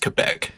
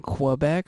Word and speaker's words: Quebec: Quebec Maple Syrup Producers, that's going to be pronounced Quebec. yeah, I'm going to keep saying Quebec for the entire episode. I hope you're okay All right, with that's that.